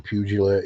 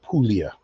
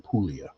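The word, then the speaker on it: Puglia: Um, she was bred to an Italian stud, an Italian dog from Pugila, Italy. Uh, let me rephrase that. Pulia is the correct pronunci pronunciation. Pulia. P U G L I A pronounced Pulia.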